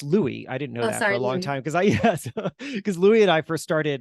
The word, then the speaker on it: Louis: So Pessimists Archive started, it's pronounced Louis.